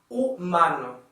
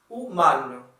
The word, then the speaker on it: humano: In Portuguese, we don't pronounce this letter, so it's quite neutral. For example, here it's the Portuguese word for human. We say humano, humano.